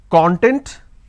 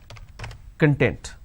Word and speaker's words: content: pronounce this as cur i can either pronounce this as content or i can pronounce this as content so content content we